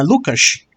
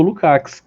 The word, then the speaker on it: Lukács: é lukács tá é porque a pronúncia do nome dele Húngaro na Lucas E é só que a maioria da Galera conhece como lukács a Credo carga português